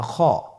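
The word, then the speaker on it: خ: ছবিতে দেখুন খ হরফটি কীভাবে উচ্চারণ করতে হবে। খ হরফটির মাখরাজ হলো কণ্ঠনালীর শেষ ভাগ হতে উচ্চারণ করতে হয়, কণ্ঠনালীর শেষ ভাগ।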